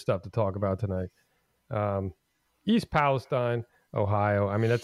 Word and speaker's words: East Palestine: It's East Palestine. You see, it's actually since I lived in that area for quite a while. It's actually East Palestine. That's the way it's pronounced by the locals.